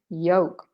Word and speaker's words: yolk: joke no joke so this would be yolk without the l and with an e okay quesa what is